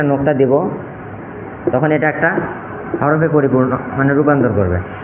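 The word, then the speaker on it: ح: মুছে ফেলি তাহলে এটা হবে হা গলার ভিতর থেকে হলকের মাঝখান থেকে হাটু কিয়ার গুলি উচ্চারণের চেষ্টা করতে হবে শুরু থেকেই আমরা চেষ্টা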